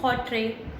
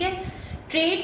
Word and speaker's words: Hawtrey: सबसे पहले according to हॉट्रे, ठीक है, ट्रेड साइकिल इज हॉट्रे की स्पेलिंग ये है HAWTREY, ठीक है।